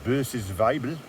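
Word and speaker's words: Böses Weibl: dry conditions is this one here which is pronounced B's vible uh which apparently translates to Evil Woman um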